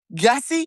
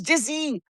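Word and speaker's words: Gyasi: And I said, "Okay, is it is it gassy?" No, it's just like the Y is silent.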